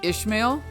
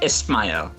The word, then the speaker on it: Ismail: Is it Ishmael? Oh, it's Ismail. Ismail. See, I knew it. Yes, I knew I was wrong.